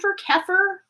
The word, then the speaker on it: kefir: and everything and everybody Kyer keer kefir oh it is kefir okay cool you know like the the fermented stuff that you eat that's how you pronounce it oh meders okay I